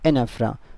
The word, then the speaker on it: anaphora: क्या बोलते हैं, एनाफ्रा। और स्पेलिंग इसकी होती है ANAPHORA।